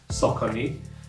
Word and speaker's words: Saucony: out but the pronoun the um way it's pronounced s is actually sakoni because there was time I think it was